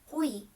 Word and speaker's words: hui: 下面我要介绍的单词叫 hui，这个单词的中文和